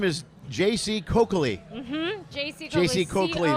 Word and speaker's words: J.C. Coccoli: Sorry, her name is J.C. Coccoli.